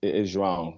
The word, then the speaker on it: João: Technically, the name is João. That's how it's pronounced in Portuguese, but everybody just seems to call me either Joao or Joao. But either one, I don't really mind.